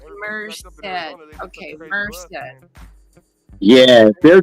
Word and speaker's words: Merced: Pronounced Merced.